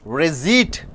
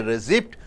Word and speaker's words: receipt: quite number nine 19th receipt you don't say receipt you have to say receipt number 20 refer for